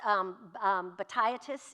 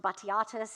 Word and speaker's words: Batiatus: A historical named character that we have from the sources, Lentulus Batiatus, pronounced Batiatus in the film with a kind of more British pronunciation. You will see it pronounced Batiatus and some other evocations